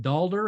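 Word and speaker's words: daalder: called a Lua dollar they they pronounced it dalder and that's where eventually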